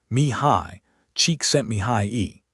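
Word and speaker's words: Csikszentmihalyi: Pronounced approximately, me high, cheek sent me high e.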